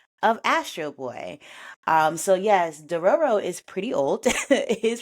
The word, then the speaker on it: Dororo: I think it's three syllables. I'm double checking myself. It is definitely Dororo. Two Roros. Got it.